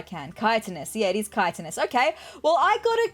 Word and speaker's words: chitinous: Chitinous. Pronunciation. How do I say this word? Oh. Chitinous.